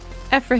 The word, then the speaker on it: Ephra: intro hi it's me ephra though most just call me because effer rhymes with heifer and i'm not a